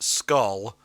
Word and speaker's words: SKL: on that Mazen Kaiser skl which is properly pronounced skull dropped in 2010 what